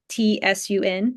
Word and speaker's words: Cun: It's sort of pronounced like Tsun, but in Pinyin it's spelled Cun, sun.